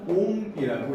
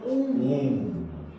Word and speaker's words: 옴: 그래서 얘를 뭐라고 읽냐면 옴이라고 읽어요. 맞아. 저항의 단위는 옴이야. 뭐라고 읽는다고요? 옴.